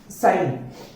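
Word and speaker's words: sign: एस आई जी एन वापस से हम देखते हैं कि एन से पहले जी आया है और एन के पहले जी आएगा तो जी साइलेंट हो जाएगा यहां पे जी साइलेंट हो जाता है और एस आ जी एन का प्रोनंसिएशन हम करते हैं साइन आगे हम देखते हैं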